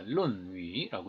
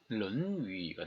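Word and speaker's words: 論語: 그럼 토론하다라는 의미로 할 때는 이제 타올룬, 그러니까 룬위라고 있습니다. 그러니까 사성인 거죠. 중국어로 치면. 그런데 토론하다의 뜻만이 아니라 또 다른 뜻이 있습니다. 논찬하거나 편찬하다는 뜻도 있고요. 그때는 이제 룬위가 됩니다. 삼성이 되는 거죠.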